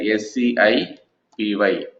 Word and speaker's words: SciPy: SCIPY is available, right? Let me go and try to write here SCIPY.